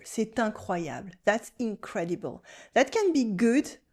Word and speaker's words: C'est incroyable: You can do la liaison here. C'est incroyable. Incredible. That can be good or bad. But generally unbelievable. C'est incroyable.